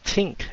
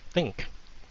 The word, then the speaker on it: think: They would say tink instead of think. And I told them because in Vietnamese there's a T sound is the hard T, the T sound.